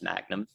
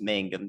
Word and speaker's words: Mangum: I have a y'all watch there that Ryan promptly ignored after he mispronounced Mangum, Oklahoma as Magnum. So, first we'll talk about that. It is Mangum that's receiving that um